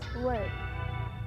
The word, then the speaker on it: word: The second is word. Here, the O together with the R is pronounced and that's confusing because that sound is often spelled with ER.